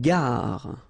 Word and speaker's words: gare: Une gare. Okay, remember when you get these G and A together, the sound is g, ga, ga. Une gare, final E not pronounced.